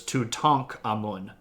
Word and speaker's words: Tutankhamun: So if you say Tutankhamun, you're putting the K and the A together, but the Egyptian syllable would have broken between the K and the A. So it's Tutankhamun.